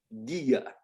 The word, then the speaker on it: guía: It's silent if it comes between the letters Q and G and E and I. So that's why this word here is pronounced K. ¿Qué? Quien. ¿Quién? Guerra. Guerra. Guía. Guía. Muy bien.